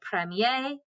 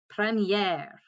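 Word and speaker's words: première: have to add that accent so then it's pronounced premier so premiere premiere premiere premiere premiere okay now that is our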